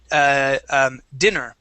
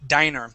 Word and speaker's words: diner: Now this here you had pronounced dinner. Okay. This is actually diner. When there's one N, that is a long I sound, and that is a place that you eat at.